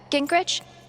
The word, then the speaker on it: Gingrich: Gingrich? Is that how you say it? Yeah, that's right.